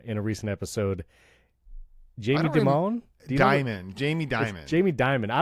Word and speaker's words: Dimon: CEO of the most important bank in America, Jamie Dimon. Diamond. Like diamond without the D. Like The Rock.